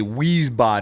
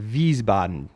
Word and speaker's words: Wiesbaden: stationed in America's you know you would say wheezebot in Germany but that's wrong I was stationed in Wiesbaden I see so it's just a little flip